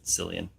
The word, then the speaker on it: Cillian: It is spelled with the hard, or it is pronounced with the hard K, the hard K sound. I'm tired of Cillian Murphy?